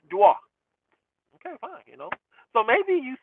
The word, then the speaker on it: Dior: Okay, he meant Christian Dior, but that's how they say it in France. It's Dwa.